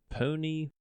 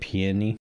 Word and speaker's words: peony: Pony? I could never say it right. I always say it peony. Peony? Peony. Yeah. You'd think pony, but pony's actually a thing.